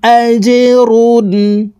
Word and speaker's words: أجر: آمنوا وعملوا الصالحات فلهم أجر জিম কলকলার হরফ নিচের দিকে ধাবিত করে ধাক্কা দিয়ে উচ্চারণ করতে হবে।